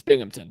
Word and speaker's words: Binghamton: So, and it's Binghamton.